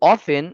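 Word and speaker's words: often: টিটাও হবে না। হ্যা টি উচ্চারণ হবে না।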